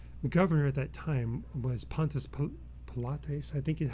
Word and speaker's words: Pontius Pilate: And the Roman governor at that time was Pontius Pilates, I think is how you say his name.